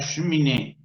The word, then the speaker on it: cheminée: Francés, la cheminée, la cheminée, la cheminée. Yo no acentué la palabra la, acentué la última sílaba de la palabra cheminée. La cheminée.